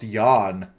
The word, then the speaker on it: Jan: He's German. I'm pretty sure it's pronounced Jan.